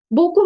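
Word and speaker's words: beaucoup: not silent okay yeah the p is silent at the end yeah the B is audible the p is silent Boku means Mercy Boku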